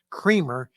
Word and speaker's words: Kramer: His last name, you may have noticed on this document, is spelled or phonetically sounds like Kramer, as in cremer for your coffee, C rea.